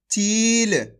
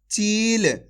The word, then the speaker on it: चील: ची ल, तो मिलके बन जाएगा चील। कैसे पढ़ेंगे? चील। ऐसे नहीं पढ़ना, चिल। अगर आप चिल पढ़ोगे तो छोटी ई की मात्रा का उच्चारण हो जाएगा। कैसे पढ़ेंगे? खींच के चील।